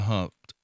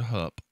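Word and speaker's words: Hupp: Among the victims killed were the parents of Susanna Gracia Humpt or Hup, sorry, I mispronounced her name. Susanna Hup would later give testimony that would be critical in passing the Texas CHL laws.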